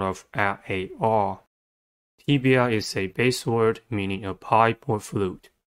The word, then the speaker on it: tibia: Tibia has three syllables and the stress is at the first one. The first syllable is tip. T. E. The first sound of E I E Y. B. The second syllable is E. The third sound of E-I-E-Y. The last syllable is a.